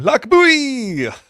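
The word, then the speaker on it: Lochbuie: last year and I had to learn how to say the name L buy I didn't hear any residents saying it like that but that's what I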